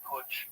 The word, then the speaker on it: Putsch: The business plot called the Wall Street Putsch was the White House put.